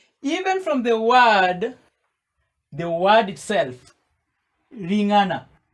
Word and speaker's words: Ling'ana: Even from the word itself, Ling'ana, we have syllables. Ri as one syllable, ri. Nga as a second syllable, and na as a third syllable.